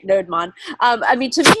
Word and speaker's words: Nodemon: All right, Nodemon. I mean, to me, it looks like a combination between Node and Daemon.